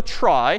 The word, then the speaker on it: trie: So a try, sort of a weird name and pronunciation, short for retrieval, pronounced try typically.